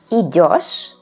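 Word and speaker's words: идёшь: Il verbo monodirezionale et ha una forma molto particolare, quindi dobbiamo stare attenti con la pronuncia, quindi con la lettera io, e anche dove cade l'accento quando coniughiamo il verbo it.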